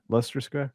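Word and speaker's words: Leicester Square: I said it right leester Square Lester Lester Lester Square leester leester okay anyway yeah exactly Lea Square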